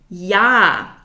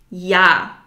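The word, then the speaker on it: ja: to teach you is yah which means yes yah the German J is pronounced like the English y yah yah very easy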